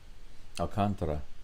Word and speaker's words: Alcantara: Alcantara is his pronunciation, I see.